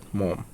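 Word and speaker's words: Maugham: William Somerset মম। বানানটা দেখবেন, উচ্চারণ মম হবে কিন্তু বানানটা হচ্ছে মঘাম।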